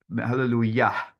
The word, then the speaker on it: hallelujah: they would pronounce it hallelujah, and you like exhale at the end, so you will hear that there's the hey, like the actual H sounds, you can hear it.